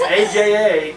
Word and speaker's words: Aja: is alexandra uh jah jah that's how you pronounce it it's aja it's a joke like you say fast or